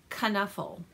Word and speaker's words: Knuffle: cautionary tale by Mo Willems now this is pronounced kana 'full and you find out that out in the